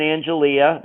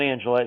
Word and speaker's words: Angelia: All right, so he moves in with Coley and Angelia. That is, her name is not Angela, it's Angelia.